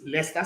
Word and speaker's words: Leicester City: It's Leicester City.